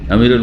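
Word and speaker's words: عمرو: এই পার্থক্য করার জন্য আমরের পরে একটা ছোট্ট করে ওয়াও লেখা আছে, কিন্তু দেখেছেন না, ওয়াও পরে একটু ওয়াও লেখা আছে, কিন্তু ওয়াওটার উচ্চারণ নেই। কিসের জন্য? আমর আর ওমরে পার্থক্য করার জন্য।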